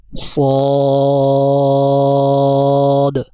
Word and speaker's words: صاد: جو ہمارا سبق ہے، اس سبق کے تلفظ کے آخر میں ایک حرف دال بھی ہے، یہ اس کے تلفظ میں آخر میں دال لکھا ہوا ہے، تو ان کو پڑھتے ہوئے دال کی آواز بھی نکالیں گے، صاد، ضاد۔ تو اب ہم پچھلے